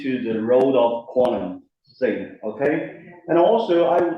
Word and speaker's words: Fei: because for many uh for many German they pronounce my name as fi you know. So because it's following the German pronunciation it should be thi right somehow it's connected to the pronunciation of the face right thigh yeah so meaning that